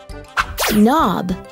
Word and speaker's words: knob: did but i know there are some words that start with the letter k but it is silent almost as if you